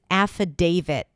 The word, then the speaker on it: affidavit: The first sound is a as in cat. Then we have fu. Fu fu an f sound and then awah.